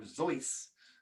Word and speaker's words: Seuss: His name was Theodore Seuss, or Seuss is how he pronounced it, and it's German.